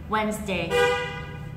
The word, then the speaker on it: Wednesday: tiên when and w Wednesday Wednesday đó thì lưu ý là mình sẽ đọc trọng âm này nó nó to và nó cao hoặc là nó dài hơn nhá a à a à